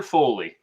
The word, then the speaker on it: Foley: love it well hey welcome welcome am i pronouncing your name right correctly you got it perfect my friend tyler foley foley yeah it's it's a very unique name